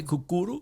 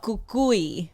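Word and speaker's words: Cucuy: of the morning oh why did you say cucuru no Kukui oh there's no c-u-c-u-y yes I I didn't know how to pronounce that yeah yeah like he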